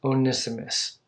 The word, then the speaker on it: Onesimus: one of Philemon's slaves was a man named onesimus venice' mess actually as how you pronounce it in the greek Onesimus i had